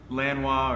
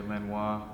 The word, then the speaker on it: Lanois: his work with Daniel Lanois. Am I right in pronunciation? Yeah. Yeah? Lanois. Someone said Lanois to me recently. Yeah, it's either Lanois or some people say Lanois.